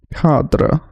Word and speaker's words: cadre: So the British pronunciation is cadre. Listen to Julian McKell pronounce it. He pronounces just about everything. We'll assume he's right. Cadre. Cadre. That's the French.